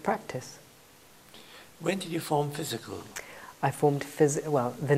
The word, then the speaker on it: Phizzical: How about Phizzical spelt wrong? And let's spell it P-H-I-Z-Z-I-C-A-L, because that just sounds like fizzy and poppy and just dynamic and colourful and fun.